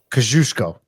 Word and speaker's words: Kosciuszko: So how'd you pronounce it? Kosciuszko? Kosciuszko.